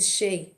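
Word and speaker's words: sidhe: i don't even know oh it's pronounced it's the she okay it's pronounced it's she but it looks like shitty i'm just going to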